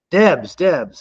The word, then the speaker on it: Debes: Debes.